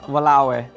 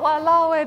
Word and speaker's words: walao eh: Like, could I be like, oh, walawe, they sold out of curry puffs? Yes. I mean, damn. Yeah, ish. That's so long for damn though, isn't it? No, it's just 3 syllables.